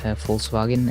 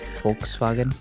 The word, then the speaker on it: Volkswagen: V is f but W in German is pronounced like a V okay right see that's